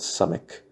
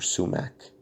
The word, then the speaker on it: sumac: two sticks of peeled some ik or sumac I've heard it pronounced both ways as long as her